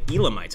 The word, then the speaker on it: Elamites: again the elamite SAR the Elamites I'm pretty sure it's pronounced the Elamites and let's take a